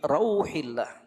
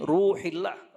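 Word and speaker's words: روح الله: wasallam bersabda, ar-rihu min rauhillah. Itu cara bacanya tuh. Ar-rihu min rauhillah. Angin itu dari rauh. Bacanya ro-nya itu di fathah. Jangan ro-nya dibaca dhammah, min ruhillah.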